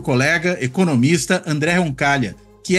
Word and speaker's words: Roncaglia: nome dele andé roncal Lembrando que roncal se escreve com gl né em italiano vai pronunciar que nem LH em português roncal né enfim mas sem